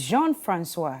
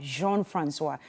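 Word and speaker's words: Jean-François: My first guest has a very wonderful name, Edwige Jean-Francois is her name. Now, she's a multilingual. It's Jean-Francois. Yeah, Jean-Francois. But I'll let her pronounce it herself when it's her turn to speak.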